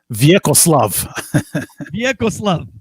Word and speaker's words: Vjekoslav: Vjekoslav. Vjekoslav iz Krajine, iz selo Strmen, Kordun. Americans just called him. As is typical. And would always spell it. Yeah, Vjekoslav. V-J-E-K. The J always screwed him up.